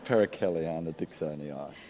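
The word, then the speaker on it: Paracaleana dixonii: Please pronounce it. The flying duck orchid. Perichelliana dixonii.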